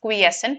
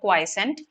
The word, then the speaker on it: quiescent: here the word quiescent this is pronounced as quiescent not quiscent quiescent has been underlined